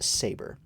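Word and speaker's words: 7ABR: So, they just joined up two sets of two uh featuring FMAT members and members from I believe it's pronounced Saber. It's spelled 7 ABR.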